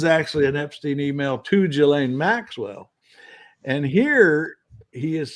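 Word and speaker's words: Ghislaine: Gilain Gilain Maxwell and Virginia Zurey.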